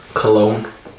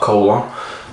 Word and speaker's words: Cologne: So yeah, full marks to the guys from Cologne, not Colon, who have come up with a pretty good hybrid, which it's hit all the spots.